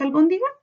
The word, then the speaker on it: albóndiga: Veamos albóndiga. Albóndiga. ¿Cuántas sílabas tiene? A ver, albóndiga. Albóndiga tiene 4 sílabas. Muy bien. Busquemos la sílaba tónica. Albóndiga. Albóndiga. En bon está el tilde y en bon está la sílaba tónica. No es ni aguda, tampoco es grave, por tanto yo no